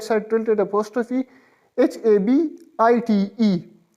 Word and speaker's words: habite: right side tilted apostrophe, HABITE. H remains silent in French, so it will be pronounced as separately, it will be pronounced as J apostrophe, habite, habite, A, birla, B